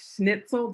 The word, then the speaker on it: Schnitzel: his he's known in the drupal community as schnitzel did i pronounce that correctly that's correct yes okay um